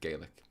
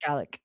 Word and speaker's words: Gaelic: Oh, by the way, in Ireland we pronounce it Gaelic. Yeah, it sounds In Scotland, it's Gaelic.